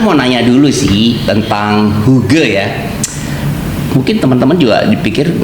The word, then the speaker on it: hygge: Natalia dulu deh iya kalau huge sendiri ejaannya itu Hotel Yank golov Golf eeko kok bukan huge ya Hi harusnya tulisan Iya tulisannya Hige Tapi bacanya huge Kenapa itu dari bahasa Denmark Denmark yang artinya something